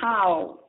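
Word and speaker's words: 好: To say hello in Mandarin, say ni hao. Hao is pronounced as one syllable, but the tone requires that you let your voice drop midway and then try it again at the end.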